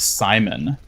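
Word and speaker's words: Szymon: It's the Polish equivalent of Simon.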